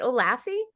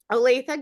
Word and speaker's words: Olathe: She continued her advocacy into the, is it Olathe?